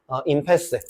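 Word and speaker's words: impasse: 데드락이랑 그리드락이랑 스테일메이트랑 이건 아마 발음교 임패스일 거야, 아마. 임패스. 철자는 조금 그렇게 안 보일지라도.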